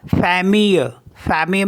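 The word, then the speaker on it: famille: आई एल एल ई तो इसको पढ़ते हम फैम फैम मीस होता है फैमिली नेक्स्ट है जी ई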